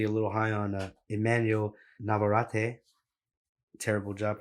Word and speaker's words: Navarrete: How do you pronounce it, bro? Navarrete, way.